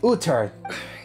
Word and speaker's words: Uther: That's how you say his name, Uther.